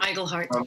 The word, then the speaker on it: Iglehart: Iglehart.